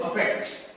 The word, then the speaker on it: affect: AFFECT को बोलते हैं अफेक्ट, अ का साउंड आता है, और EFFECT को बोलते हैं इफेक्ट, इसमें ई का साउंड आता है।